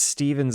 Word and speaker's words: Stephen: Nothing against Stevens of the world, but I legit hate that it's pronounced Steven. Uh, welcome to English.